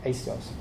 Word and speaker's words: Axios: Axios. Axios. It's spelled?